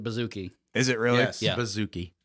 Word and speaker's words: bouzouki: am butchering that pronunciation know that that's how you pronounce it bouzouki is it really yeah